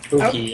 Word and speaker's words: Hoki: Hoki, how do we pronounce that? Hoki? Hookie? Hookie, I think. Yeah, you got it right.